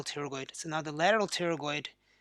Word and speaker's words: pterygoid: wrong so the external and the the medial pterygoid there one of the current the extra on